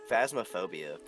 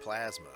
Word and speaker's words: Phasmophobia: Phasmophobia. Not plasma. Phasma. Not Plasmo. Yeah, Like but it's spelled like with a P.